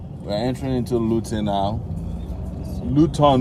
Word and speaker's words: Luton: Luton, no, not be Lutino. Luton, eh? So that we pronounce it in the Yoruba way.